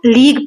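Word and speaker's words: league: लीग देखो इसकी spelling कैसी है? लेकिन इसको लीग पढ़ते हैं।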